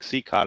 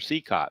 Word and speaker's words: Cicotte: I've heard his name pronounced many, many ways, but I think Cicotte is the one I've heard the most prevalent, so I'll go with it.